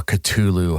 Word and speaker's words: Cthulhu: HP Lovecraft and very Cthulhu based or Culu, however you want to pronounce it. Um, when I say it in the song, I pronounce it Culu.